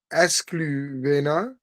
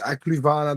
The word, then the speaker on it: Ecluvana: Um, yeah, and Ecluvana, you read it as Escluvena, I think, mm-hmm. but it's pronounced Ecluvana, doesn't matter.